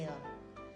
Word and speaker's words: elles: When you're pronouncing ELLES as well, it's pronounced L.